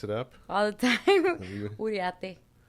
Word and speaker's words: Uriarte: Uriarte. How do people pronounce that? Did they mess it up? All the time. Uriarte. Right. Yeah, they don't pronounce the second R. There's two R's.